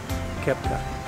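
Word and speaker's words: Koepka: How do I pronounce your last name? Kepka.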